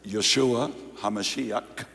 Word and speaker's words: Yeshua HaMashiach: treason police declared that Yeshua hamashiach the Jewish pronunciation of Jesus the Messiah is in fact the